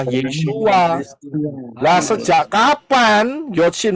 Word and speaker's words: ישוע: Nah, problemnya, apakah Yod Shin Waw Ayin ini bisa dibaca atau diucapkan Yesus? Tidak, Pak. Ya, Pak. Tidak. Jelas tidak, nggak bisa. Karena Yod Shin Waw Ayin itu bacanya, pronouns-nya, pengucapannya adalah Yeshua.